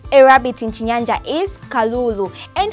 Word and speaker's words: Kalulu: gotten that one a rabbit in Jinja is Kalulu and how do we spell it okay Incheon latest photos K a L u L u so get this one right k a L